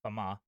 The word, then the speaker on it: Famin: In America, I pronounce it Bruno Famine, but the journalist, called it, referred to him as Fama.